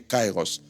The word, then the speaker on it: kairos: Dans certaines manières de prononcer ou décrire, on met i tr i. Mais retenez cairos.